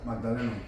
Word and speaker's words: Magdaleno: Magdaleno. Magdaleno. Shit. That's very challenging for the pronunciation.